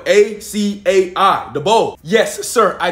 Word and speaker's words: açaí: i want the akai bow the thing spell a c a i the bow yes sir i know i'm afraid you're pronouncing it wrong it's not pronounced akai it's pronounced acai oh my oh my bad